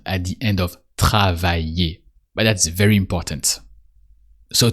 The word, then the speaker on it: travailler: So still with a E sound at the end because it's the infinitive.